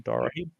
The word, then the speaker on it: Dorahy: Did I pronounce that right? Correct. John Dorahy.